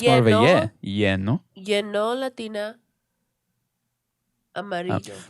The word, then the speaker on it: lleno: Like lo lleno.